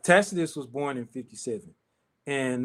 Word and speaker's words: Tacitus: Your boy Tacitus, man. Talk to us about Tacitus. They love some Tacitus. Man, they love some tactician, Tacitus. They call him everything but his name. Taxi, one dude called him Taxi.